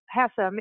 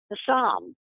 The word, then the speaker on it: Hassam: and kind of just, if you say it fast enough, it turns into Hassam.